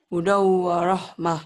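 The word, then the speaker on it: هُدًى وَرَحْمَةٌ: Hudam, hudam, hudau, hudau, hudau warahmah.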